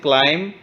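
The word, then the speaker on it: climb: okay next one इज क्लाइम क्लाइम हब वन इसको हमने पढ़ा क्लाइम हब वन तो देखिए क्लाइम के अंदर बी साइलेंट था हमने क्लाइम नहीं बोला इसको हमने बोला इसको क्लाइम ओके नेक्स्ट हिली आर्ली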